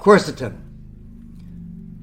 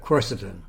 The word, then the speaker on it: quercetin: So today we're going to talk about quercetin.